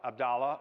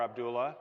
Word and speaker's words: Abdullah: And Muhammad ben Abdullah, that literally means Muhammad, son of Abdallah or Abdullah, depending on how it's pronounced.